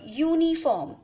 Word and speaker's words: uniform: a vowel but when we are pronouncing this word uniform we are speaking yo as the first letter the first sound which are coming from our mouth is yo and yo is the